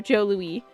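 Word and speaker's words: Jos Louis: If you ever in Canada, uh Joe Lewis, Joe Lewis, that made by a French company, so pronounced Oh, Joe Louie.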